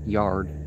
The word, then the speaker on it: Jared: I'm going to presume that's pronounced yard, because there's no j sound. Well, in Arabic there is, but...